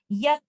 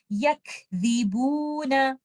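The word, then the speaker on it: يكذبون: I have to remember to give hums for letter kaf, tip of the tongue out for letter dal, and do not add gunna while giving any mud letter, and recite it like this. Yakdhibuna.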